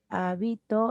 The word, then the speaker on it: habito: Habito y habitó, mira. Sí, en hábito el acento está en la antepenúltima sílaba esdrújula. Habito, el acento ahora se ubica en la penúltima sílaba grave.